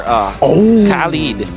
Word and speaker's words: Khalid: I wonder if Burmese Ghouls can play Benedetta or Khalid. Or did I pronounce that correctly? Yeah, Khalid.